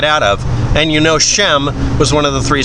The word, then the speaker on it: Shem: the book of genesis that's one way of pronouncing it or spelling it shem not shemp it wasn't the three